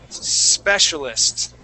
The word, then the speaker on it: specialist: need to slow down take a look at that word if I need to I can say s specialist okay and you'll be able to pronounce that correctly so when you do that um after time your brain will realize that there's no e there okay okay okay great